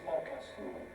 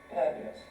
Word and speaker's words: purpose: First of all, the stress was not on the first syllable, purpose, but papasu. The equals, it's a rhythmic problem, Japanese have. The equal sort of, the syllable times rhythm, papasu, dun dun dun, not purpose, but dun dun dun. There was an extra syllable, the purpose is 2 syllable pause in English, which is pronounced with 3 syllables, papasu.